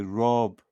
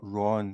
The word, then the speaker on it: Rob: So then I thought, okay, Rob sort of rhymes with dog, so it's not Ron, because I thought he's going to come on and I'm going to call him Ron.